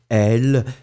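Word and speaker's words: elles: Alors, oui, in that situation, it's quite simple if you look at it, because basically, it is elle, so like the subject, elle, remember, E-L-L-E-S, same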